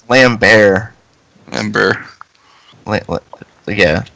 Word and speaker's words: Lambert: so maybe it does work yeah it's like lamb bear member wait what yeah it's like you don't pronounce the T it's cuz he's French anyway